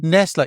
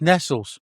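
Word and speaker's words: Nestlé: Nestle. It's Nestles. Nestles Milky Bar. Yeah. No, it's Nestle. No. No, it's Nestles. Nestles. It's always been Nestles.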